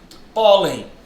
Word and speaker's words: pólen: Pólen. Pólen leva acento. Percebeu? Ela é uma O paroxítona terminada em N.